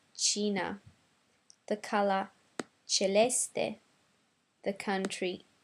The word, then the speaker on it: Cina: China is pronounced Cina.